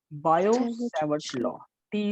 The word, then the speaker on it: Biot-Savart: Biot-Savart law, T is silent over here, Biot-Savart law।